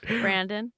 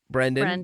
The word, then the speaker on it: Brendan: say my name correctly brendan yeah that was close that was close brandon no brendan you got brendan right yeah that's it now it's now it's it now it's it did